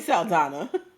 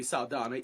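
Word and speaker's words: Saldaña: was about to say her name is not Zoe salana her name has always been Zoe saana even when she wore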